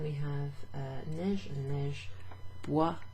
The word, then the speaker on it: bois: And then we have neige and neige, bois rhyming with froid. So it's got that O-I, wa sound.